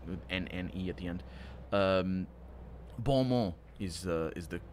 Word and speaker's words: bon mot: Bon mot is the correct pronunciation.